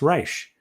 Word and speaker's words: Reich: tock at sam underscore that's reich but it's pronounced reich because we are jewish but don't be complaining